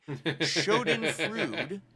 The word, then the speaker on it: schadenfreude: I realize now that wasting so much time following someone you don't like is a schadenfreude. That's how you pronounce it.